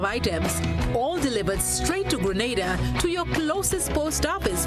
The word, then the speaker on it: Grenada: So today, like we Germans say, we are in Grenada. But I heard in English it's called Grenada. Say it right. Grenada.